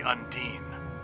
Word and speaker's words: Undine: Like the Undine. Yeah, I know it's pronounced Undine. I just prefer saying Undine.